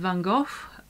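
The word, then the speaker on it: van Gogh: the chapter on Vincent vanov I know different country pronounce his name differently but that's how we do it in the UK one quote by him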